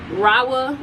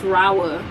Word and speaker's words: Rahua: Raa. I always say that. I always say it wrong. It's Rawa.